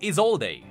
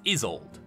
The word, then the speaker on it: Isolde: her, but most importantly, in the past I pronounced it Isolde, which kinda makes more sense seeing how it's spelled. But it is Isolde, so excuse me if I pronounce it wrong out of habit.